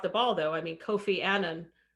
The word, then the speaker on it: Annan: ball though i mean kofi annan which is by the way how he pronounced his last name um he dropped the